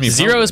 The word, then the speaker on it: Z Heroes: Zeros but with an H at the top is silent.